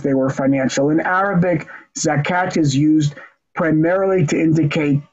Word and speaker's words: Zakat: these are the Zakut, in Arabic you write Zakut, but you pronounce Zakat, the merits of Israel.